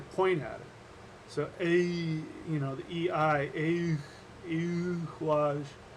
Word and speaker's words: Eihwaz: That sound is a sound that um, we don't have anymore, and it's a U sound.